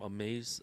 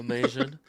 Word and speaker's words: Amazin: I think it was from Amaze Amaze Asian. I always get their name wrong. Oh, yeah. Amazon. It almost looks like Amazon. Yeah, Amazin.